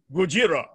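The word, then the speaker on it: Gojira: actually pronounce the name in the japanese language we call him gujirah and that sort of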